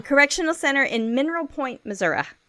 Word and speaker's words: Missouri: Correctional Center in Mineral Point, Missouri. Now I said it right, y'all. Missouri. It's not Missouri. It's Missouri. Okay, so friends of Jackie's, what they said they missed most about her was her smile, friendship.